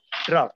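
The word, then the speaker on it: draught: is that it has draft okay we don't say drought but actual spelling is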